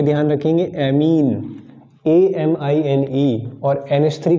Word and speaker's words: amine: तो प्रोनाउंसिएशन भी इन दोनों का सेम ही होता है, बट मैंने अपने तरीके से बोलने में अमाइन और इसको एमीन कहना थोड़ा सा स्टार्ट किया ताकि थोड़ा सा क्लैरिटी आए स्पेलिंग में और थोड़ा डिफरेंस भी लगे। तो NH3 को अमाइन बोल देता हूँ मैं, और इसको एमीन